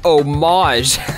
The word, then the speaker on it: homage: That word's pronounced homage. Imagine getting that wrong.